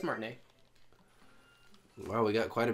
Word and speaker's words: Martinet: Is that how you pronounce it? Yeah, it's Martinet.